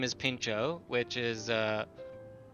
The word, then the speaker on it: pintxo: my cat's name is pincho which is uh in there's a place in Spain where they speak Basque a different language and the TX is pronounced as a CH and it's a type